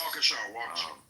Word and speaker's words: Waukesha: Waukesha.